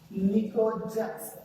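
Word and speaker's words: pnictogens: In group 15 elements, it is known as nitrogen family, or it's also known as nicogens. P is silent here.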